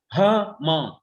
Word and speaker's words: Hmong: one near laos called the hmong people spelled h-m-o-n-g uh they're in vietnamese two syllables huh mom her mom invited me